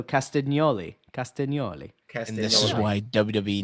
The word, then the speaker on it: Castagnoli: So and GN in Italian makes that nya sound. So Castagnoli.